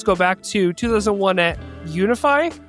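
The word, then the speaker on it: UNIFEI: The team's roots go back to 2001 at Unifi. Am I saying that right? Yeah. Uh like we call it Unifi. Unifi.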